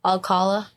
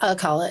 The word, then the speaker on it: Alcala: It's a L. It's Alcala. Alcala. Yeah, it's not Aala, it's Alcala, but that's how it's spelled.